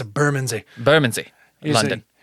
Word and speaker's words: Bermondsey: You got to say it like you don't even want syllables. I don't even want to say it. Burman. Like you don't even part your lips. I don't want extra syllables in this word.